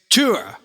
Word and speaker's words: Týr: It's Tour. Okay. We know how to pronounce it, but we're in America, so we're going to say Tear. Because it's too hard to say Tour all the time.